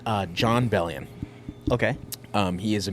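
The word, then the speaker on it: Bellion: But I will say uh John Bellian.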